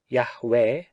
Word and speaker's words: Yahweh: him should tie him the divine name you'd hey Wow hey the proper pronunciation of which seems to be Yahweh owing to his utterance